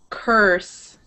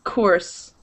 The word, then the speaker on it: curse: you say it again it was sounding more like coarse like coors light it's a type of beer of course but it's more of an uh cur er earth like this curves perfect perfect um and